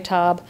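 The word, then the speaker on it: Sur La Table: cookware expensive store sirab it's spelled like table but in French say toab um but there's only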